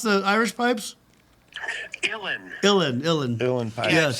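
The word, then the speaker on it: Uilleann: How do you pronounce the Irish pipes? Illin.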